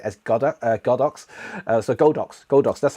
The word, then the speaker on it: Godox: So, what is a good God ox? You know what? Yeah, a lot of people actually mispronounce this thing. It's not Godox. People always say pronounce Godox.